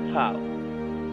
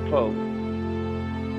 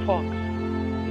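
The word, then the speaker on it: faux: Fau. F-A-U-X. Fau. It is not fox.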